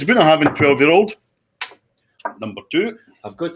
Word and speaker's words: Bunnahabhain: In the Gaelic, with a B, is pronounced a V.